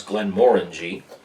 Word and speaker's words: Glenmorangie: to pronounce that but that is how you pronounce glenn moring this is their port